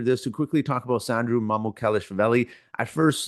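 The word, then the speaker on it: Sandro Mamukelashvili: Shams Charania announced a free agent forward/center Sandro Mamukelshvili.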